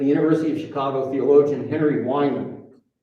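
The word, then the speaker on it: Wieman: In 1946, a University of Chicago theologian, Henry Wyman, his name is not spelled like it should be spelled.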